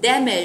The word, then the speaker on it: damage: Từ này nhấn trọng âm ở âm số 1, đó. Damage. Damage, nhớ là nhấn âm 1, mở khẩu hình lớn ra và bật trọng âm ra ha.